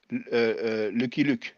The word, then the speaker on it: Luke: America right Lucky Luke now in French we say look that's how we pronounce it you know Lucky